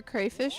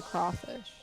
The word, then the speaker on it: crawfish: I thought they were pronounced like clayfish. It's either crayfish or crawfish. It's crawfish, I think. It depends on where you're from.